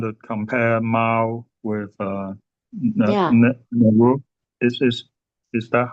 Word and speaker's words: Nehru: Nehru? Is that how you say his name? Nehru? Who? The Indian Prime Minister, Nehru. uh, Nehru, yeah, and Okay.